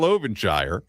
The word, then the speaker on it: Ovenshire: And for Kyle Ovenshire, his name is spelled O V E N S H I R E.